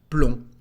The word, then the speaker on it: plomb: At the end of a word, this letter is not said. Let's see some examples to understand it better. For example, we've got the word plomb in French.